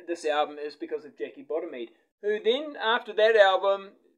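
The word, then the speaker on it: Jackie Bodimead: That's how you say her name, Jackie Bottomede, on vocals.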